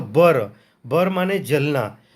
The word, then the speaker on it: भर: तो ये भर का असली प्रोनाउंसिएशन इनका क्या होता है, इनके पुरातत्व के अनुसार या पुरातत्वविद के अनुसार भर का असली प्रोनाउंसिएशन या उच्चारण होता है बर। भर को ये बर कह रहे हैं कि असली इसका उच्चारण बर होता है।